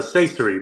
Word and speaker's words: Saysiry: do you say your last name bro uh CER bro CER CER yeah okay and you can